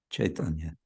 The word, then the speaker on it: Chaitanya: It's not a separate syllable. It's one syllable. I. So it's one in how to say, in Bengali script, lipi, it's one character. It's not two. So it's Chaitanya.